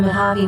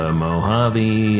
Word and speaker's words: Mojave: Transmitting from the Mojave Wilderness in Joshua Tree, California, now is the time for Desert Oracle Radio, the voice of the desert.